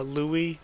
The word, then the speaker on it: Louis: spell that buck also I know now from the anime coming that it's actually Louie instead of Lewis but it's gonna be